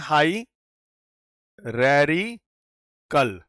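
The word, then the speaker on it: hierarchical: पूरा सेटअप बोलते हैं इसको हम कहते हैं हाई रेकल ठीक है तो इसको ध्यान कैसे बोलेंगे अ प्रोनाउंस हाईरिकल तो a tree topology networking is अ हायरिकल arrangement of devices.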